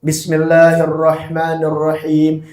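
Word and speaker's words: بسم الله الرحمن الرحيم: "Bismillahirrahmanirrahim". "Bismillahirrahman", itu naik, tekan sedikit saja dan sudah satu alif, dua ketukan. Tidak perlu terlalu panjang. "Bismillahirrahmanirrahim".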